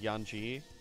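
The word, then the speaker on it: Yautja: it's supposed to be it's like spelled like yatcha or something and it's supposed to be pronounced like yanji or some [ __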